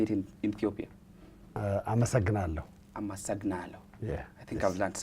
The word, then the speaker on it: አመሰግናለሁ: Amasagnalo.